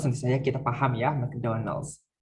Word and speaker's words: McDonald's: Ini McDonald's tentu saja kita paham ya, McDonald's. Dibacanya biasanya McDonald's. Kalau ada A-nya jadi Mac gitu ya, mac and cheese gitu, macaroni and cheese gitu ya. Kalau McDonald, McKnight biasanya dibacanya Mac.